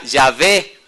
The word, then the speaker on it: Yahveh: eruditos hebreos opinan que la pronunciación de las consonantes y hh era yve una minoría por su